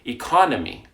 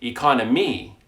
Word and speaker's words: economy: that is incorrect study another word economy we say economy we stress the second syllable we don't say economy that is incorrect economy to learn syllables successfully